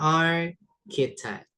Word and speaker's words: architect: Kemudian ada Architeek pakai K ya bacanya architeek.